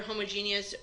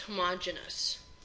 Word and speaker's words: homogeneous: heterogeneous or homogeneous mixture you might also hear homogeneous pronounced homogeneous it's pronounced both ways if you see the